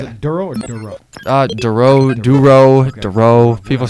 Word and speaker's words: Durow: You go by just Durow, right? Durow, yeah, my last name. Durow. Is Yeah. it Durow or Durow? Durow, Okay.